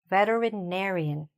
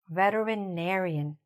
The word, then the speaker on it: veterinarian: Say it after me, "veterinarian", "veterinarian". The stress is here, okay?